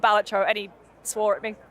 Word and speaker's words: Balatro: me Doom scrolling I guess I just play blro Lucy I heard a rumor that it's called It's pronounced batro yes really is this true yes so uh